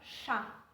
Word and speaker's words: chá: a planta camellia sinensi se pronunciava chá e já os holandeses